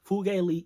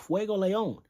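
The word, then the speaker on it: Fuegoleon: endeavor put Endeavor against fugali Fugue fugo Fuego Leon Miss Fuego I'm sorry I mispronounced it had to go back to my Spanish days put him against Fuego Leon with the salamander grimoire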